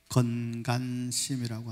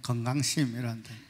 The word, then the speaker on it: 건간심: 건간심이라고 한다. 경상도 사람들은 발음을 빨리 하면 건강심이란다. 건강심 아니고 건간심입니다.